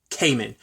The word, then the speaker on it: Cayman: and the same with Cayman. I think I pronounced it like common last episode, but it's Cayman. I think it's probably almost like Kamen Rider.